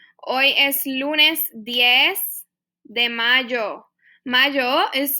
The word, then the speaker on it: mayo: If today's Monday, hoy es lunes 10 de mayo. Mayo is spelled like mayo, but it's pronounced mayo.